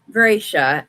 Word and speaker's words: Gracia: You can totally call her Caroline, but it's Gracia, and that's how it's pronounced.